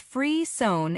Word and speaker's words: frisson: Frisson, pronounced free-sone, is a French word that means shiver or thrill.